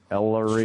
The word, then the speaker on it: Ellery: Ellery, like ELL. It's kind of like Mellery, but with no M. Ellery.